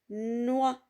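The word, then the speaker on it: noix: le mot de deux ici l'atrix ne se prononcent pas c'est une lettre lui est d'accord aussi dans le mot noa noa la lettre x est une lettre lui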